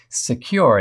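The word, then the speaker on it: Sekur: way yes there is secure it's spelled s-e-k-u-r offers secure instant messaging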